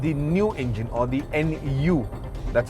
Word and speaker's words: Nu: is uh called the new engine or the Nu that's how it's spelled and it's an all new engine of